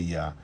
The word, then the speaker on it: Yah: Yah, YA, muito bem.